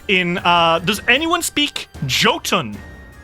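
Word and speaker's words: Jotun: Um, and I think after the fireball, a roar goes out in uh Does anyone speak Joton? I'm sure or Yoten, I think it's pronounced.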